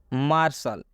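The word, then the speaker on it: martial: मार्शल, यहाँ पर टी के बाद IA है। मार्शल सामरिक, यहाँ पर टी के बाद IA है इसलिए टी का उच्चारण तलाबे स हुआ है।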